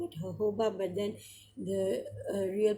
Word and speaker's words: jojoba: Some people call it jojoba, some people call it jojoba, but then the real pronunciation is jojoba actually.